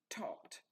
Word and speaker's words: taught: past simple of teach this one we pronounce talked so the change is